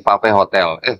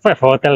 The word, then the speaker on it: Five Hotel: Kami sekarang sedang berada di Pave Hotel. Pave Hotel apa Five Hotel? Five Hotel kok. Five Hotel lah. Iya, kok. Bacanya Five ya? Ya. Bukan Pave.